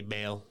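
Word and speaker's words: Baal: I pronounce this properly is it ball or bail well I've heard it both ways but I say bail yeah yeah I I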